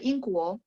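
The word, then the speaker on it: 英国: Apa itu Inguo? Inguo ini negaranya ya, Inggris. Inguo. Kalau pound sterling, Ingpang.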